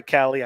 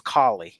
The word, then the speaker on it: Kali: i said all right i said sorry callie i said your name wrong it's kali so yeah hey bebop